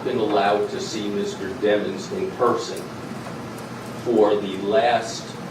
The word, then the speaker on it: Demons: motions until we demons and have yes it's pronounced demons not demons like I said this dude has the worst